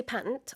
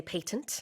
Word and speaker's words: patent: You say patent, I say patent.